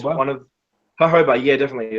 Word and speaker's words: jojoba: to carry in the roll on bottles uh hoba is quite good to be honest it's one of hoba yeah definitely it's spell it's spelled jojoba but hob pronunciation um hoba